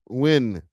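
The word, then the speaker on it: Nguyen: N G N G U N W Win.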